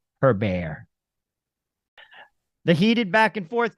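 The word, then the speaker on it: Hébert: Canadians and uh I love Chantal I even pronounced her name correctly her bear the heated back and forth continues at City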